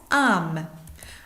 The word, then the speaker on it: âmes: Avec la première personne du pluriel, on met A circonflexe, MES, et ça se prononce âme.